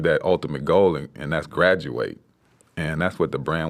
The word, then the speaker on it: Gradu8: that's cool so graduate is that how it's pronounced graduate yeah and so where did that start for